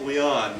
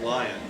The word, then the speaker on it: Lyon: It's just too much for me, Lyon But- to me is Leon, not lion.